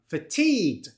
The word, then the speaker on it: fatigued: Where's the stress on the second syllable? Fatigued is not fatigue. Fatigued. And the second syllable has a long vowel sound.